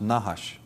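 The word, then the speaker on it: נחש: regards to the gods the word in semitic for serpent is nahash of course they didn't use vowels so it's just n-h-s-h but that is pronounced nahash and it actually means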